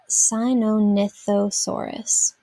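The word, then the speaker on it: Sinornithosaurus: from the greek chinese bird lizard and is pronounced sinonithosaurus modern birds descended from a group of two-legged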